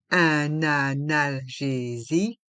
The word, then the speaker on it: analgésique: analgésique un comprimé effervescent un analgésique un comprimé effervescent dans le mot analgésique on fait la liaison avec le N de 1 et le a de analgésique